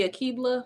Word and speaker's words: Akibla: my name is akibla like a keebler cookie or kebla elf however you want to pronounce it that's the way it